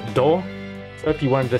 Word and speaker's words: 度: So just this kanji, which is pronounced do.